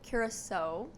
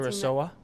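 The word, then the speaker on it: curaçao: And it consists of mango nectar, blue curacao. I think I'm pronouncing Kurosawa?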